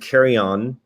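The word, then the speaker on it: Carignan: carry-on luggage and so if you see that word carry on with a French accent that's exactly how you pronounce this grape and so the the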